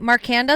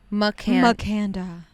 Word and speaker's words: Makanda: Marcanda is what I call it, but there's no R, so it's called Makanda.